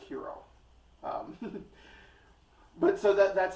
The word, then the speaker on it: gyros: like the word giant gyros um uh there it's actually pronounced hero um but so that